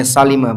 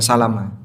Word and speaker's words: Salimah: Kampung Bani Salimah yang lebih tepat bacanya Salimah bukan Salamah.